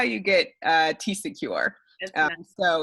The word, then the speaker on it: TCecure: So that's how you get TCecure. Nice. So it's pronounced, the second part is pronounced secure, like the regular word secure, but starting with a C.